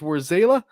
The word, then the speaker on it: Warzala: for broadcasting games and I've heard your last name pronounced two different ways and I want to make sure I'm getting it right so warzala or rosala which one is it because I've heard it pronounced both War zayla where's zayla okay see live on the show you heard it here it is war zayla and we are going